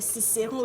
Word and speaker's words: Cicéron: J'ai bien prononcé, c'est Cicéron, le gros nounours, c'est bon.